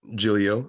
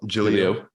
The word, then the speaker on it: Giglio: guide on that because it doesn't just pronounce the way that it reads Julio yep Julio yeah so he comes